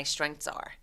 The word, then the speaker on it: strengths: 그래서 strengths H 없는 것처럼 my strengths are.